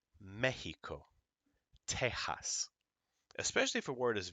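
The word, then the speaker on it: México: like exito or excellente it can also have the same sound as a j and go ha uh in words like Mexico especially if a word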